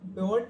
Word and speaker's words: pivot: आज हम जानेंगे कि एक्सेल में पवट टेबल पाइवट टेबल जो भी प्रोनाउंसिएशन उसका सभी अलग-अलग करते हैं।